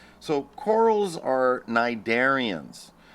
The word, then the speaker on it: cnidarian: All right, so corals are cnidarians. And cnidarian is spelled just like it sounds, only it has a C at the beginning of it.